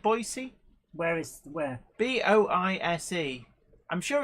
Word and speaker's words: Boise: again from Boise Idaho in USA am I pronouncing that correct Boise where is where b-o-i-s-e I'm sure it's Boise I'm sure somebody Boise